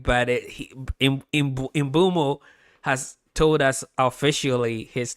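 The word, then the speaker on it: Mbeumo: But it imbumo has told us officially his name is pronounced Imbumo. Brian Imbumo.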